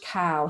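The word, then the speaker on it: Kao: enough there is enough to go around George cow his surname is spelled k a o and he's already done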